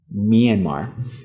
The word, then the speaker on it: Myanmar: Neanmaranmar n Myanmar.